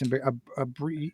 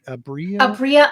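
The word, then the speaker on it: Aabria: It's Abria. Abria Iyengar. Thank you so much. I'm terrible at names. I apologize. Abria Iyengar.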